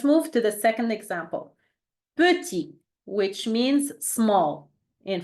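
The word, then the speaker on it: petit: turn perfect let's move to the second example puty which means means small in French puty okay let's repeat after me puty your turn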